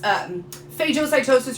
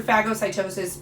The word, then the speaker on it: phagocytosis: One of them is known as phagocytosis or phagocytosis, pronounced both ways.